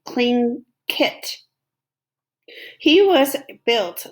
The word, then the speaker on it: Tlingit: Garvey said he was a Tlingit Indian, pronounced Klingit, proudly with the clicking of his tongue as if saying Klingkit.